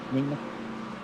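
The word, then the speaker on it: Nemeh: Ne M E H Nema. Although when I say that, I feel as though I should have a silent K and a and a second D in there.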